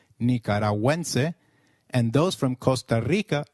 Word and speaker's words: Nicaragüense: Gu, when followed by another vowel like in gue, is pronounced like gue in Gwen. So, let's try saying Nicaragüense again. It is Nicaragüense.